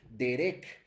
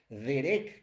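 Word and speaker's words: דרך: La palabra caminos viene del hebreo derek, derek, con acento en la segunda E y con K, que no significa un camino literalmente, como una carretera, ¿verdad?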